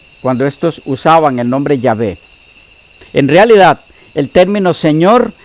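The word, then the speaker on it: Yahweh: que lo más exacto es w1 yagüe sino llave llave la pronunciación jehova proviene del hecho de que para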